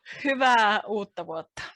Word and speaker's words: Hyvää uutta vuotta: Hyvää uutta vuotta.